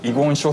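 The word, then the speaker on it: 遺言書: ねそうですね弁護士は遺言書っていうあの読み方をするんですけどこの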